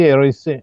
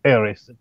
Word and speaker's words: Harris: ricordando questo aneddoto, perché io dissi Eroes, lui disse Harris, perché poi lo studioso visse negli Stati Uniti d'America, e ci chiedemmo quale fosse la pronuncia esatta, e Harris molto gentilmente disse che lui è vero che era nato, che stava negli USA, ma essendo nato in Inghilterra, lui si chiamava Harris.